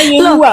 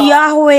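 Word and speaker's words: Yahweh: dong bisa juga bisa juga dibaca Yehua loh bacanya Yahwe kalau Yehua enggak nyambung ke Haleluya. Kenapa disebut haleluya? Karena terpujilah Yahwe. Kalau Yehua apalagi jadinya haleluya. Gimana sih? Nah, sebutan yang benar itu Yahwe atau Yahua gitu.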